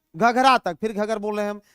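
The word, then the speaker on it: घाघरा: लखनऊ बसा हुआ है घघरा घघर ना कह के घघरा सॉरी प्रोनाउंस गलत हुआ घघरा ठीक है घघर मत करना घघरा घगरा इसी घगरा को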